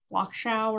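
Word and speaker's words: Flachau: these German words but it's f-l-a-c-h-a-u's like clock shower or something like that and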